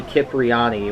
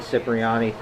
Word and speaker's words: Cipriani: interesting to note that he pronounces his own name Tony kipriani when every other instance it's Tony Cipriani I guess he just